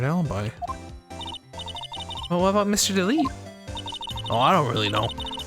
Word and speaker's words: Delight: I say delete delete well if it is French it is delete Delight would be if it was because the the E is silence so it's delete delete the E is like unless it has this accent here it's not pronounced at the end like 90% of the time how would you pronounce